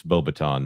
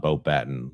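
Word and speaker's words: Beauxbatons: It's Bo-Baton, not Bo-Batten, like Michael Gambon says.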